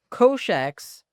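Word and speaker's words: cosh: x minus e to the x / 2 kosh x that's how you pronounce kosh x is e to x + e tox / Two tangent x is cinch x divided by koshax.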